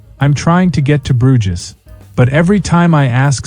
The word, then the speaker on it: Bruges: The man said it slowly, Bruges, like it's spelled. My brother gently corrected him. It's pronounced more like Bruges in French or Bruke in Flemish.